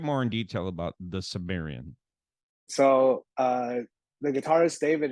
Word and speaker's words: Cimmerian: Unified School District graduate the Sumerian exactly yeah yeah right it rhymes with Barbarian the Sumerian Conan ish